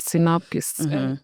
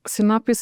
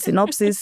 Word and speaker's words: Sinapis: Synopsis, synopsis, like it's it's a Latin word for the mustard seed.